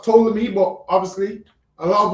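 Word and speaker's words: Ptolemy: So it's it's pronounced tolamy but obviously a lot of us say poleami.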